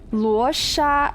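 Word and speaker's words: Luocha: sorry this is important in luosha it is sha so it is sh okay all right it's sh it's washa oh no why did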